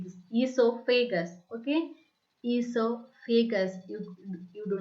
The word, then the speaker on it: esophagus: Okay, esophagus. You do not pronounce it as oesophagus. The O is silent here. Okay, O is silent here. We need to pronounce esophagus. Okay, esophagus.